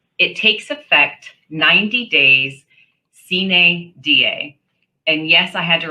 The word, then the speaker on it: sine die: It takes effect 90 days sine die. And yes, I had to write down the pronunciation for myself and highlight it over here.